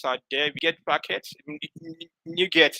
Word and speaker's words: NuGet: NuGet is pronounced as new and get.